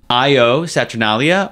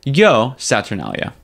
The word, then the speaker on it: Io Saturnalia: surprise yeah um so it was either pronounced IO saturnalia or yo saturnalia H so it's kind of like a IO saturnalia kind of thing or yo I like yo better cuz it's obviously a